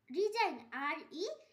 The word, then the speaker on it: resign: রিজাইন, RESIGN রিজাইন, এখানেও জি এর উচ্চারণ হয়নি।